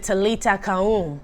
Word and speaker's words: talitha koum: what it is uh i think you pronounce it talita kahoon which is little girl